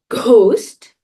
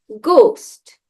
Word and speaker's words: ghost: Now you know in English when we have words with G like ghost we don't say ghost we say ghost because in English letters are redundant they could be there